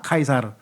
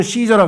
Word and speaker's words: 카이사르: 카카 카 카이사르. 근데 영어로는 시저라 그래. 시저. 왜냐면 영어는 C를 S로 발음을 해야 돼.